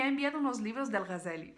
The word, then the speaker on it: Algazel: primero es éste pone algas de él porque en castellano en castellano se dice gacel pero para mí es muy raro decirlo así siempre y le llamo a